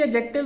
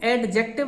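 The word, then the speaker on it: adjective: हुण असी एडजेक्टिव दी इहनूं एडजेक्टिव नहीं बोलना, डी एच साइलेंट आ, एडजेक्टिव बोलते हैं असी इहनूं।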